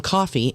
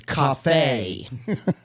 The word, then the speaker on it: Cafe: and I used to call him Coffee until I heard him say his own name. He said, and it's Cafe.